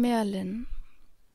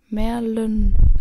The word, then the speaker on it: Merlin: Dann Merlin. Falsch ausgesprochen. Merlin. Er spricht das im Buch so richtig mit diesem rollenden Y auf der Zunge aus.